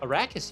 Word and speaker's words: Arrakis: Did I pronounce the... Arrakis, yeah.